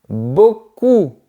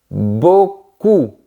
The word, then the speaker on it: beaucoup: On continue avec le mot beaucoup. Garde bien la langue en arrière. Beaucoup. Sinon, tu risques de prononcer beaucoup. Et ça ça veut dire que quelqu'un a de belles fesses.